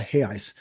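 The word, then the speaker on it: reais: the Brazilian RI or they call it hey ice because I think they don't they don't pronounced the R so it's called Hey ice and I remember when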